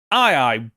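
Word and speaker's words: aye-aye: is native to Madagascar called the II but it's spelled a-y-e-a-y-e and I was like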